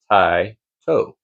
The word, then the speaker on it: TYTO: I actually reached out to the company and asked them, they said it's pronounced Tai toe and that is in reference to a genus of owls which includes barn owls.